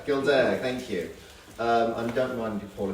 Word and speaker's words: Gildea: Gildea, thank you.